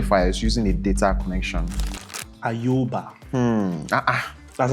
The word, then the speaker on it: Ayoba: Ayoba. That's how it's pronounced.